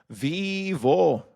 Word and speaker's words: vivo: But that's how you pronounce it. Vivo. Just think about the word the that one um that one company that took over YouTube in like 2009 or something like that.